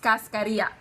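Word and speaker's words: cascarilla: I ll a fantastic know that it's pronounced Cascadia I'm always surprised by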